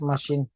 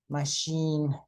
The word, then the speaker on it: machine: but we pronounce it we pronounce them as sh like for example Chef machine yes okay uh the